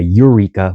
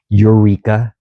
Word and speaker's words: Eureka: There is a Yreka, and it starts with a Y, and a Eureka, which is on the coast. So don't fail to mispronounce or understand the difference between Eureka, which is a city